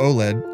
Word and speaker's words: OLED: OLED or OLED (Pronounced: 'Oh-Lead') stands for 'Organic Light-Emitting Diodes'.